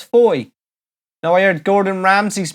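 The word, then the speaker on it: Fowey: always thought was actually called Bowie but it's Foy know I heard Gordon Ramsay's moving down to foyer betty pronounces it are we done e you can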